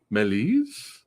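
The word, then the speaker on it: Méliès: watched there we go pronounced melies I'm I'm gonna stick with Melius only because I like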